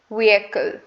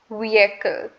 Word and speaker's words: vehicle: how do you pronounce it okay the correct pronunciation of the word is vehicle vehicle um it's not vehicle that is completely silent we do not pronounce